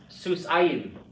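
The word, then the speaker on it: סוסיים: This is how I write my accent to show you it's not on the last syllable. So this is pronounced susayim.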